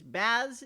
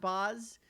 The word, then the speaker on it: Baz: It is Baz, is my understanding, not Boz.